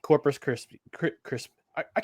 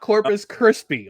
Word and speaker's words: Corpus Christi: Coming off a successful road trip where they beat Billings and they beat Corpus Christ. I keep I keep mispronouncing. Corpus Christi, not Corpus Krispy.